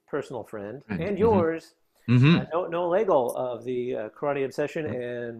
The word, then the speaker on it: Legel: My new close personal friend and yours, Noah Legel of the Karate Obsession and Waza Wednesdays. Right. Rhymes with bagel.